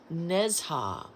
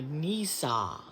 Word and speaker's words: Nezha: It's Nezha or Nisa, wherever you want to break the syllables up.